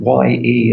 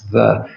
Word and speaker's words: ye: YE is actually pronounced the. It's not pronounced ye, because in Old English script they had a letter called the thorn, which represented a TH sound, but looked like a Y.